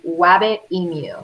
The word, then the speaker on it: Wabbitemu: Okay, go to your app store and type in Wabbit Emu. That's how you spell it.